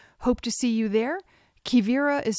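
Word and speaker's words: Quivira: Kivira is spelled Q-U-I-V-I-R-A.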